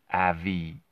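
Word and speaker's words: Avitene: of shady to me, it's spelled Avitine here, and everyone uses that term, but it's Avi-ten. So the first E and the I are flipped, right? That's the name of the drug.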